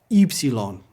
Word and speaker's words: Upsilon: It's pronounced like the French U.